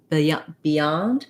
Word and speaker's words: beyond: typical everyday word and we have second syllable stress uh the beyond beyond we have a little bit of an e sound there um even though the that syllable is not stressed because we're going into the yeah of yonde beyond we can't really do our typical um unstressed e so if i have